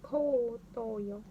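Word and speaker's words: 後頭葉: So that's pronounced as ko toyo.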